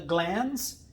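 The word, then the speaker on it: glans: itself is called the glands and it's spelled g-l-a-n-s there's no d like gland it's called the glands penis and you notice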